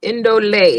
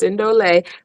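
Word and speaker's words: Ndolé: Indole is how it's pronounced. Indole.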